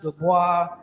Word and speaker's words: Dubois: That's how you pronounce it, Dubois.